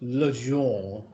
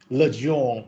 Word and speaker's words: Legendre: I have checked Google pronunciation, and I found that in French, it is pronounced Legendre polynomial. Legendre polynomial.